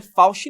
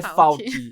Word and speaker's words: Falchi: Porque eu já pronunciei o sobrenome dela errado, não é Fauci não, galera. É Falk. É Falk o nome dela, o sobrenome.